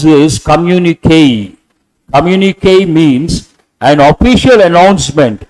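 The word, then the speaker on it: communiqué: e put a stroke and how do you pronounce this communique communique means an official announcement under an official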